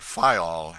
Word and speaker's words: Fayal: island of the group fayal the people there pronounce it file and put the accent on the first syllable we anchored in the